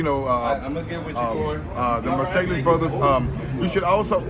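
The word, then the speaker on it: Marsalis: Mercedes brothers, you know, uh get uh the Marcelis brothers. Um you should also look Glenn Davis, the rebirth brass band. Other people say Marcales.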